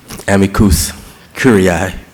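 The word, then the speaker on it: amicus curiae: years of lack in college go to waste Amicus cui brief although the other pronunciation is acceptable um this policy uh also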